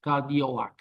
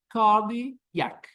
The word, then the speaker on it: cardiac: Cardioac. So just cardiac, cardiac, cardiac. So the O, put it here. It's not good. Get rid of it.